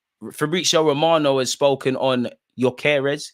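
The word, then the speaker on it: Gyökeres: Romano has spoken on yeres is that how you pronounce his name it's definitely not garez he said although many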